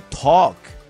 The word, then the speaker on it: talk: También cuando decimos walk, que es caminar, no se pronuncia la L. O talk.